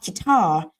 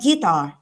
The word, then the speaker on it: guitar: The Guitar Very Well ต นี้ ออก เสียง ว่า gitar ไม่ ใช่ gitar next ต่อ ไป ช่วย